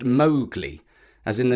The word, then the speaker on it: Mowgli: of it is pronounced mly Accent on the Mau which rhymes with cow so that is why we're pronouncing his name malgi just as Kipling instructed